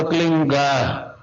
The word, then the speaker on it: क्लीं: की मात्रा और बिंदी, उसका उच्चारण होगा क्लींग। गा की ध्वनि निकलेगी पीछे। आप अंग बोलो, यहां स्ट्रोक लगता है, अंग बोलो।